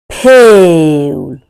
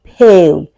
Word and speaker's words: pale: There are two vowels here, A and E, right? And you can hear the sound of A, pale, which is a long vowel sound, A. Pale. You can't pronounce it ah. You can't pronounce You can't say pal. No, it's pale, right? And this second E goes silent.